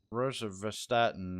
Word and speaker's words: rosuvastatin: All right, what is the rosuvastatin, or how do you pronounce that?